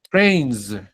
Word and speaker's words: trains: Trains, como con una Z.